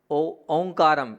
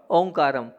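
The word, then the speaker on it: ओकारं: ओंकारम। वो ओंकारनम नहीं है, वहाँ पर ओकारम है। क्या है? ओकारम। ओंकारम नहीं है, वहाँ आप बिंदी का उच्चारण करते हैं, लगभग सभी करते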